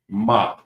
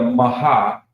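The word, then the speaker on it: מה: So I pronounce it ma. It's not going to be a maha because you normally especially with the ha character especially with this more than often at the end of the word when it's attached to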